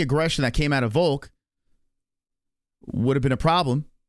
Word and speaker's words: Volk: I mean, Volk rhymes with choke, for God's sakes.